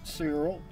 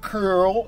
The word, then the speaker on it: Cyril: russian orthodox greek catholic church say cyril i pronounce it cyril not curl if you're rushing you might pronounce it as